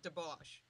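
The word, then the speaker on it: Dobosz: say your last name uh it's spelled D o b o SZ it's said deos the SZ totally is a sh sound it's a sh sound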